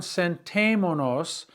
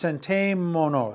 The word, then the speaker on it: sentémonos: So it's sentémonos, sentémonos. And there's an accent on the E in the middle.